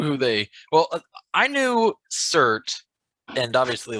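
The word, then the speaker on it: Surtr: Is it Surtur? Cert. There's not an R after? There is, but it's not pronounced.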